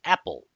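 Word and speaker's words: EPEL: So this command installs the extra packages for enterprise Linux EPL which is often referred or pronounced as Apple repository.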